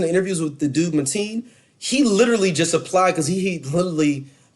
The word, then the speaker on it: Mateen: Oh, I might be saying his name wrong. It's Mateen.